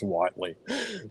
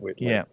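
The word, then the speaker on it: Whiteley: by by by intention that's Whitely not Whit just like um Warren Buffett not Buffet we do like that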